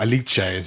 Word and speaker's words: Alice: And Alice, or Alice, as it's pronounced in Italian, worked very closely with...